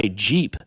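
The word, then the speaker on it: Gep: Oh, Jeep. Yeah, Jeep. Yeah, but it's spelled with a G, right? Yeah. G E P and then C H R Y S T.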